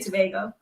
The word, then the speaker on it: Tobago: Don't feel bad, because a lot of people sometimes do pronounce it. I guess depending on where you come from, you pronounce it differently. So yeah, but Tobago. In our island, we say Tobago.